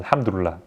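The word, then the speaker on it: الحمد لله: with already already means thank god thank god alhamdulillah again just more of the um you know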